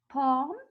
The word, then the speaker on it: palm: Again, when we say silent, it's you see the L in the word, but you don't pronounce it. You don't say it, but you write it. It's talk, could, walk, chalk, palm. I will get to the hands just now.